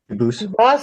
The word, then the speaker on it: Dubus: I know a family with the same exact spelling in America, and they do pronounce it Dubus, but you said you pronounce it Dubus, as the original Dubus, as the original French.